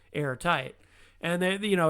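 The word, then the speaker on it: Heirtyte: the local outbreak archive air is spelled h-e-i-r and tight is t-y-t-e airtight and they you know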